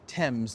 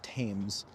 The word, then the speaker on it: Thames: It's pronounced Thames, not Thames.